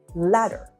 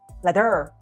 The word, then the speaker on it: ladder: For example, in the word ladder, the stress is normally on the first syllable, like ladder, ladder, la. But if you move the stress to the second syllable, it sounds like ladder, ladder, which is not standard, right?